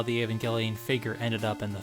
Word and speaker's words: Evangelion: Not to mention, if Williams was such a big fan, why did he mispronounce Evangelion so badly? Neon Genesis Evangelion.